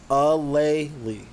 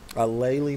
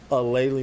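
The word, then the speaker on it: Aleali: that oh she oh she has it pronounced she has on her bio as her um as a um okay a laylee a laylee may way easier than what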